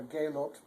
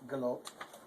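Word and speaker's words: gelobet: an sound, so it's galoped. Oh. I should mention that you say both the B and the T, but, so it's galoped.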